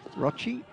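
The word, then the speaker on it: Rocchi: Need Gabo for the pronunciation there with the double C, Rochi.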